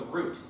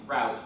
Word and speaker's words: route: I can never consistently pronounce it, so it's both root and route. Actually, you should say route, because that would distinguish it from like root directory, you know?